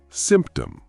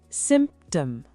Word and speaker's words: symptom: Symptom. Symptom. The P is very soft.